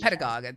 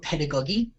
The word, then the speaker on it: pedagogy: To me, I call it pedagogue. I'm totally probably pronouncing it absolutely wrong, but yeah. It's spelled pedagogy. That's how you spell it. Padagy. But it's spelled pedagogy and pronounced pedagogy. Far out. Pedagogy. It's pronounced pedagogy.